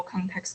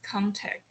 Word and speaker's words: context: ending sound of them for example context you pronounce as contact and the x sound is is omitted which means i cannot